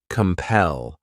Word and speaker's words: compel: The next verb is compel. This word has two syllables and the stress is on that second syllable.